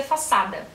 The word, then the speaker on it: Fassade: mas na verdade assim ele é de origem alemã significa fachada e segundo a autor eles pronuncia faada mas aqui eu vou pronunciar para vocês façade mesmo porque sim mas eu acho